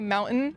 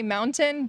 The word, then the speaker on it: mountain: Yeah, normally we say mountain. We have like the glottal stop in the throat, but you can say mountain, but people just say mountain, like Right.